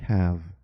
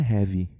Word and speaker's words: have: Na grande maioria das vezes você não pronuncia esse E. Como o caso de have. Não é heavy.